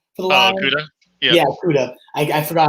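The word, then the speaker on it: Okudah: We got Jeffrey Okada. How do you use your OSU boy, right? Jeffrey Okada for the Lions? Okuda? Yeah, Okuda.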